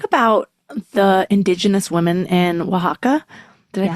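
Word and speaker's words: Oaxaca: You talk about the indigenous women in Wajaka. Did I pronounce that right? Yes. Waka.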